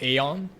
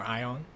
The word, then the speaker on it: Aion: It's called Aeon or Ion.